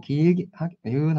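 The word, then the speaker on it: ยืน: 원래 빨리 발음하시면 돼요. Y 발음이라서. 자, 이은 하시고 길게 이은 하고 이제 길게 발음하시면 요게 서다라는 뜻이 있어요.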